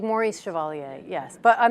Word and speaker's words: Chevalier: my name correctly no my last name is chevalier and people say chevalier chevrolet all that so um it's uh it in in england they tend to a little bit more pronounce it uh correctly because more people there i most people in england have had to learn french at school so they sort of